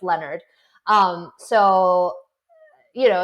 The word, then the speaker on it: Leonard: I mean I mean people mispronounce my name Leonard all all the time but that doesn't mean that I switch to Leonard you know I just no it's Leonard um so you know